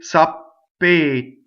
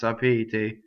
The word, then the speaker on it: sapete: The other thing I hear is sapete. I hear people open the E in this word, and it's not. It's sapete, closed. Okay, both E's in this word are closed.